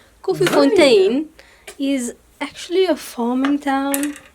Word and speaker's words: Koffiefontein: But it would be Koffiefontein, no? You are correct. It is pronounced Koffiefontein.